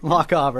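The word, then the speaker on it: Lochaber: That was what, Loch Aber Badger. Did I pronounce that right, or am I Loch Aber. Loch Aber. That was close. Loch is the lake, like sort of like Loch Ness, but they don't have a monster.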